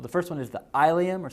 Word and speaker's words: ilium: first one is the Ilia more sometimes you'll hear it pronounced the ilium then you have the